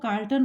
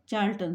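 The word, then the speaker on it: Charlton: यहाँ I want to से कि बहुत लोग इसको कार्ल्टन पढ़ते हैं बट the correct pronunciation is चार्ल्टन.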